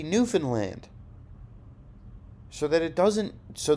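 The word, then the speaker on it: Newfoundland: easy and then we'll make fun of people for pronouncing it like new found land even though that's what it is it's going to be Newan land so that it doesn't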